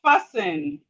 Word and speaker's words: fasten: We have fasten.